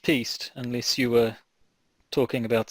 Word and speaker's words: piste: It's normally pronounced piste unless you were talking about something else.